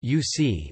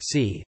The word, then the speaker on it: vsi: Thus, VSI may be pronounced as disyllabic UC or monosyllabic C.